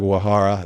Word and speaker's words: Uehara: And then, Uehara is that wrong? Yeah, it's like more like Wahara, crazy. like the U Okay. isn't so sharp.